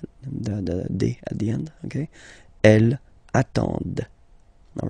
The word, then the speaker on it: attendent: And the last one, same thing, classic ending for il, elle at the plural form, ent, but then you don't pronounce them. Ils attendent, okay, so remember you get to pronounce this, d at the end, okay.